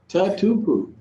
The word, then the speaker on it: Tatupu: Tatupu.